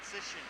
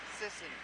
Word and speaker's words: Sisson: Gagne, Rishishi, Hike, Dunn, Sloan, Sisson, not Sisson, Sisson.